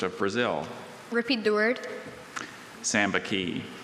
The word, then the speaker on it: sambaqui: Sambaqui. Sambaqui. S-A-M-B-A-Q-U-I.